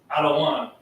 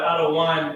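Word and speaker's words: אדון: so the middle wordan Adan um in the modern Hebrew it may be pronounced ad but adaan is the older dialect version of it Adan means Lord or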